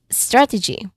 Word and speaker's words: strategy: So that is strategy. Again strategy pronunciation wise the primary stress is on the first syllable strat.